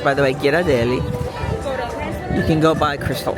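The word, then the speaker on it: Ghirardelli: And then on the far side of between Giraadelli, that is how it's pronounced, by the way. Giraadeli, you can go by Crystal Arts, etc.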